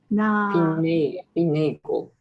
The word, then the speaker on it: finagle: This word is finagle. Finagle. Finagle, that long A.